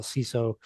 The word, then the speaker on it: CISO: don't even know like what is Sizzle or some people call ciso now there's a variety of ways to pronounce it so do you